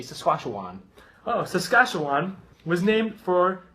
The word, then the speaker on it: Saskatchewan: So in the best term, it is Sacagawea with a crossbeat of a Wan, like a Obi-Wan Kenobi, so I say Saskatchewan.